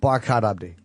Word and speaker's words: Barkhad Abdi: Barkhad Abdi.